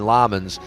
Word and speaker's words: Lammens: I say Lemons and they're going Lammens.